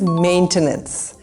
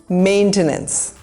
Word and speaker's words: maintenance: This is maintenance. The emphasis is on the first syllable, maintenance.